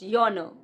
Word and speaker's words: genre: It's not genre, it's yawner. Yawner.